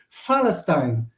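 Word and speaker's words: فلسطين: So uh uh and they even cannot pronounce the P. Yeah. Because in Arabic there are no P. So they call it Falsteine because they cannot pronounce P.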